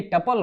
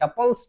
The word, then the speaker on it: tuple: देखिए ये टपल होता है, टपल्स या टुपल्स नहीं होता है, तो प्रोनाउंसिएशन बिल्कुल सही करिएगा, टपल कहा जाता है इसको, TUPLE।